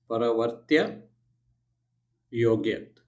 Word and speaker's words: Paraavartya Yojayet: So it is Paraavartya Yojayet. Yojayet. Okay, Paraavartya Yojayet. So again, you go by splitting it. Pa, Ra, right? VAR, where you pronounce stress, Tya. Then Yo, Ga, Yet.